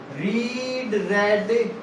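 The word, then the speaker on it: read: A book is being रीड, रेड। बोलने में, speaking में अलग अलग है, लेकिन वर्ब तीनों स्पेलिंग एक जैसी होगी।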